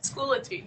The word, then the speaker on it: Schoology: Schoology.